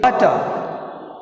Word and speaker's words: water: Water. Water, in water word we have first syllable wa, stress is on the W.